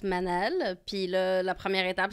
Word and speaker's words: Manal: Fait que c'était Manal, tu sais. Puis la première journée de mon secondaire... C'est même pas de même, ça se dit. Non, parce que le A en arabe, ça se prononce autrement.